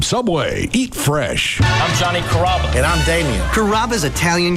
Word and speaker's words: Carrabba: Growing up, people always had a hard time pronouncing my name. People chop it up pretty good. You know, Carrabba, Carababa, Caramba. It's a really easy name to pronounce. It's Carrabba.